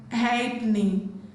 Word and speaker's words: halfpenny: Letter F is silent in the word halfpenny, halfpenny, halfpenny, not halfpenny.